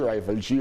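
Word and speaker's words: Rival G: Donc le G en anglais qui devient G, Rivalji, Rivalji, Rivalji.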